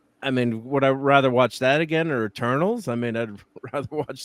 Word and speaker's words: Eternals: So I mean, would I rather watch that again or Eternals? I mean, I'd rather watch that movie. I think you're pronouncing that wrong. Eternals.